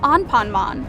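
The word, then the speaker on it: アンパンマン: pronounced Juan ponmon while the kids show is pronounced on ponmon talk about similarities but now we gotta talk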